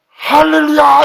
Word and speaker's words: 할렐루야: 히브리는 히읗이 없습니다. 우리 키읔하고 히읗하고 중간이기 때문에 우리가 할 또는 하림 이런 식으로 하지만 히브리 발음 아랍어에는 히읗이라는 게 없습니다.